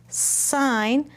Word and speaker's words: sign: I found lots of words with the silent letters. Did you? Let's read them. Wrens, new, no, gnats, sign, climb, limb, thumbs, with that apostrophe S.